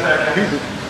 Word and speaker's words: Huub: So if you really pronounce it right, you say Huub.